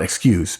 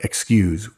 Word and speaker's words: excuse: Pronounced with a Z, folks, and not an S. It's not excuse, but excuse. Would you please excuse me?